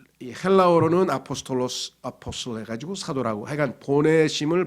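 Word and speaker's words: ἀπόστολος: 그랬는데 히라 다시 말해서 헬라어로는 그렇죠 아포스톨로스 이렇게 해서 뭐 발음이 영어랑 비슷하죠 영어도 거기서 그냥 음역을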